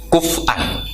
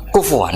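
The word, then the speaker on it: كُفُوًا: Sama kafa yakfa'u kuf'an. Tapi Imam Asim bacanya kufuan.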